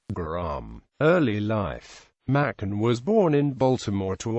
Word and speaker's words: Machen: told the Literary Digest the first syllable is pronounced like May the name of the month in the second syllable